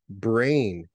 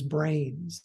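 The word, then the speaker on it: brane: these layers known as brains now brain is spelled b-r-a-n-e yeah uh not and and it's confusingly similar to you know the brain up here but it is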